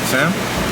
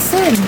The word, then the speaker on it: Cyn: Sam? Why did it say Sam? It's Sin.